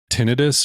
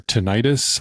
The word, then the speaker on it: tinnitus: mind right now is my idus or tentis I think it's pronounced both ways oh your ear yes